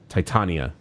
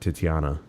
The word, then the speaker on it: Titania: is TI Titan tit Titania I don't know why I said titiana there's no I before the a I'm an idiot is